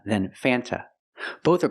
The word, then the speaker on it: Fanta: Sprite font root beer in America we do not pronounce the word Fanta it is pronounced f f use the short a sound before the N it changes a little bit it becomes a little more nasal in your nose f f f f